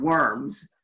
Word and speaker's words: Worms: It looks like the word worms, but it's pronounced Worms in Germany.